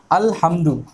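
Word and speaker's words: الحمد: अल-हम्दु, अल-हम्दु कुरान का पहली लफ्ज़ है अल-हम्दु। इसमें हम देख रहे हैं कि यहाँ पे हम लाम को अदा कर रहे हैं, लाम की आवाज़ हम निकाल रहे हैं।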